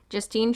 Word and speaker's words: Justine: of a fall no Justine Tri Justine Trier of another you can't say Justin because that makes it sound like a guy it's not I'm not